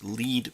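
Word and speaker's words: lede: understand message in its lead paragraph which is spelled l-e-d-e it's a little bit weird but the lead paragraph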